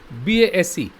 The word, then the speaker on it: base: This word pair is spelled differently BASS, BASE. These are the two spellings, but the pronunciation is the same base.